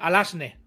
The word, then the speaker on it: Alazne: Alazne.